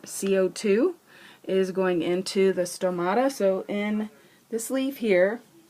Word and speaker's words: stomata: And if you want, you can, I wrote stomato, so that rhymes with potato. Someone told me to do something with potatoes today. I don't know what, but anyway, there you go. There's your potato. But it's stomata. Okay.